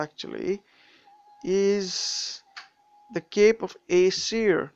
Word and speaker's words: Aesir: is the Cape of Aesir. That's how I pronounce it. I don't know if you pronounce it the same way, but Aesir, the Cape of Aesir.